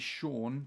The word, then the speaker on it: Sion: Because my real name is Sean, but it's spelled S-I-O-N, which is, I think,